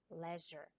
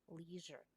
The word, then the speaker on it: leisure: talk about leisure tourism in british english we pronounce this word as leisure while in american english we call that leisure tourism on the other